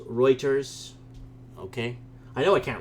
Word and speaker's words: Reuters: someone says big bluster says routers it's pronounced Reuters ok I know I